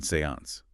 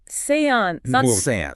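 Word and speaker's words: séance: it even taught me the proper pronunciation Seance Seance right not like you usually hear it it's French you see and in French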